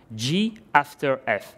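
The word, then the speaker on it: g ∘ f: and this is pronounced g after f the little round operator is pronounced after so first you apply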